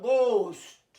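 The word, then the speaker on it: ghost: আচ্ছা, তারপরে আসছে গোস্ট, এইচটা বন্ধ হয়ে গেল, গোস্ট, গোস্ট মানে জানো ভূত।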